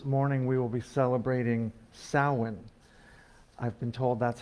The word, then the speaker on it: Samhain: typical service this morning we will be celebrating samhain i've been told that's how to pronounce it that's one thing i've learned this week in our meetings our 10 o'clock scholar meetings with rachel it's pronounced samhain remember that here you will find a diverse